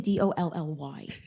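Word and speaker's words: DALL-E: Yeah, so you're going to want to actually type in DALLE. Who the heck would spell it like that? It's like, leave it to all the smart kids to leave it like that. I mean, we'll just pretend it's Dolly after Dolly Parton, but it's DALLE.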